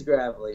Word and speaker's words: Gravely: i saying your name properly properly is it gravely gravely how do we say it yeah so it is gravelly you know most a lot of time it is pronounced greatly and if i didn't know what